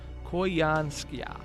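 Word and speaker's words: Koyanskaya: So it's, according to Cursed Hatter in the chat, it's pronounced Koyanskia. Koyanskia?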